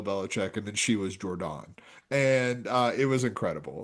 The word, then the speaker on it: Jordan: Is that how you say Is that how you say your first name of Jordon or No. Oh no, it's Jordan.